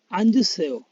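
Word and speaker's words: 앉으세요: তাহলে এখানে উচ্চারণটা হলো আঞ্জুসেও। এখানে জোড়াবাচ্চিমের যে দুইটা বর্ণ আছে অর্থাৎ জোড়াবাচ্চিম আছে নিউন এবং জিউত। জিউত বাচ্চিমের পরে যেহেতু একটা ইয়ং আছে তার কারণে, অর্থাৎ একটা স্বরবর্ণ ধরা যায় থাকার কারণে আমরা ডান পাশের যে বাচ্চিমটা আছে সেটা ইয়ং এর জায়গায় নিয়ে উচ্চারণ করব এবং বাম পাশের যে নিউনটা আছে সেটা উচ্চারণ করতে হবে। তাহলে হলো আন, এই জুটাকে এখানে নিয়ে আসলে হলো জু সেও, আঞ্জু সেও।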